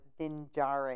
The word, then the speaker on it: Din Djarin: with him, or would I have gone with Din Djarin? Is that correct? Yep. Okay. He was picking on me on my pronunciation.